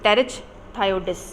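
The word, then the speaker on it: Pterichthyodes: और इनका जो एग्जाम्पल है वो है बोथ्रियोलेपिस एंड टेरिच थायोडिस, पी साइलेंट होगा इसके अंदर।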